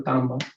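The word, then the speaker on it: तांबा: So actually, to have the correct pronunciation, think of like two A's. Okay, so tamba, tamba.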